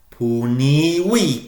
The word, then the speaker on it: punivi: Punivi, punivisti, punivit. Punivimus, punivistis, puniverunt. Remembering the V is pronounced as a W in Latin.